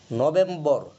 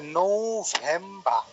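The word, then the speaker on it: November: আচ্ছা, এটা এটা যেভাবে ব্রিটিশরা উচ্চারণ করে সেটা হচ্ছে শুদ্ধ উচ্চারণটা এরকম করে তারা, যে নৌভেম্বা, নৌভেম্বা। এখানে বিটা লক্ষণীয় একটা বিষয় যে নৌ, যেটা এন এর পরে যে অটা আসছে তখন এটা নৌ, আমরা যে নৌযান বলি ওই নৌটা এসে পড়ে প্রথমে, নৌভেম্বা।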